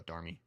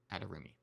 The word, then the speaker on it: Adarimi: A lot of people call her Adarmi. Whatever. I just know that the correct pronunciation from the designer is Adarimi.